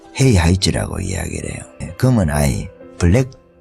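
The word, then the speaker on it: 黑孩子: 헤이하이즈라고 그래요. 헤이하이즈. 쯔라고 해도 되고, 쯔 이렇게 발음하기도 하는 것 같은데, 흑핵자 이렇게 해가지고, 헤이룡성 이렇게 이야기를 하면 흑룡성이잖아요.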